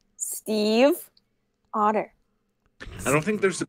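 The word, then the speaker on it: Stiefvater: That is how you pronounce Maggie Steve Otter. That is actually the pronunciation of that word as a German name. It's spoken fast, and people think it sounds like otter, but there's still the subtle V that you would pronounce if you're pronouncing it correctly. Yes, and it's pronounced Steve Otter.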